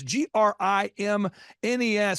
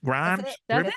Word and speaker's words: Grimes: spell your last name it's g r i m NES so someone's going grimnes Grims Grimes you got it the first time if you add s you will pronounce it correctly yeah so think of